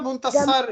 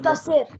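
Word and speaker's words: منتصر: It's Muntasir or Muntasar? Yani Muntasir wala Muntasar? What is the actual pronunciation? خسران. Muntasir.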